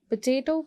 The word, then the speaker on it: potato: Potato को भी आप second syllable को stress करोगे.